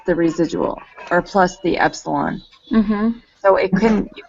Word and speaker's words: epsilon: we denote it by the Greek letter e pronounced epsilon that doesn't have anything to do with residuals